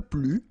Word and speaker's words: plus: Okay, so keep in mind that I don't pronounce this final S here, so we get le plus, la plus, les plus.